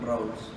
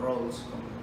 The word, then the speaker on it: Rawls: Otro texto que voy a utilizar hoy con ustedes es La teoría de la justicia de John Rawls. Ya se los voy a, o Rawls, como quieran pronunciarlo, ya les voy a leer algunas cosas.